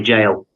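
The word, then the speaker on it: gaol: He's got a very cool place uh in Darbisha called Derby Jail. Awesome place. Very haunted. Yeah, jails are pretty cool. Yeah. Yeah. But it's spelled G A O L.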